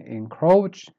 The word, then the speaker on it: encroach: grunt word number 10 encroach start weak and then you go up encroach word number 11.